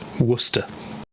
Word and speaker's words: Worcester: the Worcester bit is just Worcester.